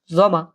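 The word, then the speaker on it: Sommer: কি বলে জমা জমা জমা হ্যা আবার এটা সামার বলবেন না কেউ এটাকে কি বলে জমা ওকে আর যেটা হল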